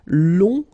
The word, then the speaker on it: long: then uh okay so long remember you don't pronounce the final J will become long.